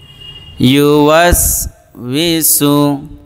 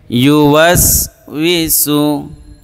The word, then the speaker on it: يوسوس: الذي ইউওয়াসউইসু, এখানে পেশ লাগে অনেকের, উচ্চারণ করতে পারে না অনেকে। ইউওয়াসউইসু, আল্লাযী ইউওয়াসউইসু ফি সুদুরিন, ফি সুদুরিন নাস।